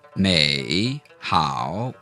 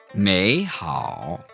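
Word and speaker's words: 美好: When you have two third tone words together, in most cases, the first of those third tone words becomes a second tone. So, may, how would not be correct. You would say, may, how.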